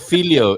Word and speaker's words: filhó: Well, not only that, but filho is also the name of a cake as well. Filho. That is Filho. filho, All right. Carl, with an accent on the O.